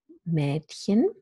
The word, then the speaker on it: Mädchen: And finally, we have the half-open front vowel, Mädchen, and I'll say a little bit more about that in a minute.